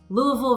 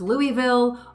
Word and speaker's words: Louisville: So there are regional differences and regional preferences, whether it's Nevada versus Nevada, Louisville versus Louisville, or New Orleans versus New Orleans. When in doubt, do as the locals do.